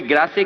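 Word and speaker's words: Grasse: France में perfume capital अगर है कोई, तो कोई ग्रासे कहता है, कोई ग्रास कहता है, वो एक प्रोनाउंसिएशन है कि इंग्लिश या फ्रेंच जो भी कुछ है।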